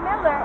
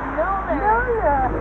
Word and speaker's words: Milner: It's not Miller, it's Milner.